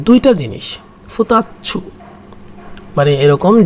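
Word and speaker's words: 二つ: আবার যদি আসি যে দুইটা জিনিস, ফুতাচ্ছু, মানে এরকম যে দুইটা জিনিস, 2 তারপর হচ্ছে সু, তাহলে উচ্চারণটা কী হবে, ফুতাচ্ছু, ফুতাচ্ছু, ফুতাচ্ছু, ফুতাচ্ছু, ফুতাচ্ছ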